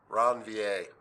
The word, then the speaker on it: Ranvier: a node of ranv I think it's French ranvier I don't think you pronounced the r nodes of ranv and